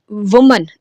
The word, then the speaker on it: women: एक बात बता दूं, मैंने पहले वर्ड बोला वुमन, WOMAN, ठीक है, ये इसकी सही प्रोनाउंसिएशन होती है वुमन यानी सिंगल के साथ। फिर मैंने वर्ड बोला विमन, WOMEN, ये विमन होता है इसकी यानी प्लूरल के